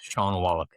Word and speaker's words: Shawn Wallack: Is that the correct pronunciation of your name there? It is, yes, Shawn Wallack.